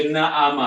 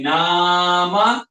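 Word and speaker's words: نام: Tidak ada orang baca na'ama, tidak ada. Dia mana tidur. Jadi dibacanya nama, nun, alif, mim.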